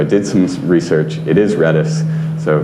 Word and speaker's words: Redis: uh i i've been going back and forth pronouncing it redis or reedus so i did some research it is redis so not reduced redis just like linus tord